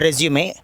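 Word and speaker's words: résumé: brief oral presentation on how to prepare a resume what are the important components to be included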